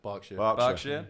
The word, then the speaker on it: Berkshire: Berkshire.